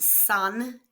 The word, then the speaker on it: son: Note that this is not pronounced son as we would say in English but son.